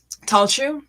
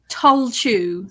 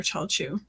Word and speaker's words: Tailtiu: But it's pronounced like Talchu or Chalchu.